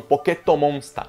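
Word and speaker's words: ポケットモンスター: Tanto que eles não falam Pokémon em nenhum momento, eles falam Pocket Monsters, que era a pronúncia no Japão, Poketomonsta.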